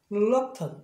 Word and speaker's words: reluctant: 그러면 이 앞에 자음이 있으니까 액센트 여기 있고 빨리 하면 이게 시어 사운드 들어가고 reluctant 이렇게 발음을 한단 말이에요.